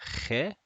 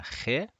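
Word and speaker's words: خ: would be something like, it's kind of like a KH. It's pronounced like a khe, a khe, and this one looks like this.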